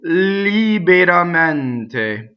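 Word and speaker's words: liberamente: So a lot of entes are closed, but not in this word when it's an adjective or adverb, which are kind of the same in Italian. So the stressed E is mente. So the unstressed E's in this word, li, be, unstressed, ra, mente.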